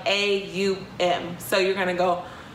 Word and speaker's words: Om: The longer that you do it, it's O-M, but you're going to say it like A-U-M.